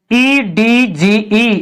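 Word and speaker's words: edge: कहां पे रहती है दी के बाद तुरंत अगर जी आता है जी या जी ऐसे शब्दों में हम हमेशा दी साइलेंट रखते हैं इसमें क्या है जी यानी एज इसको क्या पढ़ेंगे एडीजे@जे नहीं पढ़ेंगे इसका डी साइलेंट रहेगा इसमें इसको हम पढ़ेंगे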